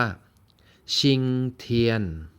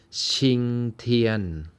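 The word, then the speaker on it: 晴天: นะ ครับ เรา ซื้อ จะ อ่าน ได้ ว่า ชิงเทียน ชิงเทียน ชิงเทียน ชิงเทียน ก็ คือ สอง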